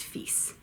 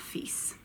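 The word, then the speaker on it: fils: ma pair or feasts yes that word is pronounced feasts Alexandre Dumas père Alexandre Dumas feasts on okay do buddy Zach oh no FA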